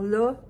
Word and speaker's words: là: Parce que c'est un son étrange qui est entre le A, le A et le A. Donc, ma prononciation pour la, c'est la, la, la. Donc, la bouche est plus ouverte que pour un O ou un A, mais c'est pas un A.